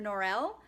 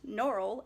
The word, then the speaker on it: Norrell: I used to say Jonathan strange & Mr Norrell it's pronounced Norrell and none of you all corrected me I'm